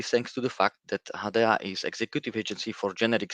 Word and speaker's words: HaDEA: you can see my name but for the pronunciation reasons my name is i am project advisor i work for hadea hadaya is a newly founded agency by the european